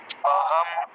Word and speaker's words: অহম: শেষে মসন্ত নেই হ্যাঁ হসন্ত না থাকলে প্রত্যেকটা অক্ষরকে পূর্ণ উচ্চারণ করতে হবে তাহলে অচ্চারণ করলাম পূর্ণরূপে হ টাকে পূর্ণ উচ্চারণ করব ম টাকে পূর্ণ উচ্চারণ